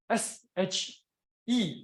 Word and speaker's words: Xu: will have to say h s h e it's she it's like she her she yeah so you see